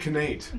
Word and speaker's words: Knate: kid Knate. It'll No. be pronounced Nate 'cause it starts with a K.